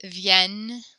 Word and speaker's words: Vienne: Vienne.